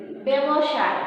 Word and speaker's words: ব্যবসায়: কারণ ব্যবসায় উচ্চারণটা কি? ইংরেজি এস এইচ এর মতো আসছে, সেজন্য সেখানে কি হবে? উচ্চারণের ক্ষেত্রে হবে তালব্যস্য।